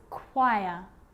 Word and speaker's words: choir: occasions it's not pronounced the h is silent so it's choir choir echo echo with a